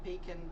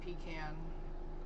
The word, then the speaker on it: Pecan: Peacon pecan. Um, I've heard people pronounce it both ways.